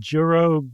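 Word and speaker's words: Jorō: And the reason I say Joro, a lot of people say Joro, which makes sense because it's spelled Joro. But in the Japanese spelling, there's a long symbol over the second O. So the first one would not be a hard O. It'd be Joro.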